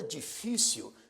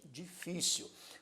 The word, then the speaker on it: difícil: um assento gráfico marreco a palavra difícil também é uma palavra é uma palavra paroxítona o acento tônico ocorre na penúltima sílaba e neste caso acentuada graficamente difícil o acento tônico acento prosódico ocorre na penúltima sílaba por isso é uma palavra para oxítono e recebe também o acento gráfico depois nós vamos ver